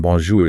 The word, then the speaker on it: bonjour: That's a that soft R in bonjour is so important. It shouldn't be the hard English R. It's softer, more in the back of the throat.